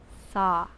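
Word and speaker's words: sah: breath naturally flows out repeat the syllable saw s-a-h and there is something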